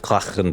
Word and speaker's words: Klachen: All right, it is pronounced Klachen, by the way.